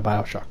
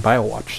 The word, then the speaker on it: Bioshock: So then of course everyone's like, oh, I gotta dive back into Bioshock. Totally understand that. Said it right that time. I keep saying BioWatch sometimes.